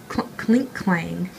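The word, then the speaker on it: Klinklang: How do you pronounce that? Click Clang? Clink Clang.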